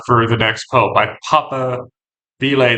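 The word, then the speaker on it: papabile: the next pope by Papa Bele they call it, which if if you don't know the pronunciation kind of looks like paper, which is uh pronounce it that way, it's it's not the most pleasant.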